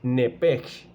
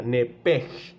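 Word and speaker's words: נפש: al salírsele el alma, esa palabra alma es nepej, así como suena, nepej, ¿ok? Esa pronunciación traducida al español es alma, ¿ok?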